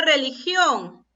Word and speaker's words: religión: ¿Y dónde estará la mayor fuerza de voz? ¿En cuál de estas 3 sílabas? En la sílaba gión. Y si está la mayor fuerza de voz en la última sílaba, es una palabra, a ver, no escucho. Es una palabra aguda, correcto.